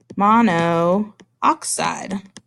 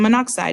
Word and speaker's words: monoxide: oxygen is spelled oxide so if we put those together it should be mono oxide but that's not what you said out loud right a minute ago you said carbon monoxide not carbon mono oxide